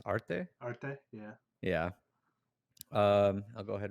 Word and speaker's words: Arte: Arte, yeah.